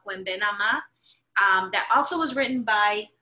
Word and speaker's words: Nama: Cuembe, Cuembe, Nama, N-A-M-A, Nama, which is basically nada más, but in Puerto Rican Spanish, we like to cut syllables at the end, so it's Cuembe, Cuembe, Nama, that's the coro.